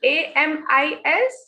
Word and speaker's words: amis: Next is AMIS. S is the last consonant. We will not pronounce this.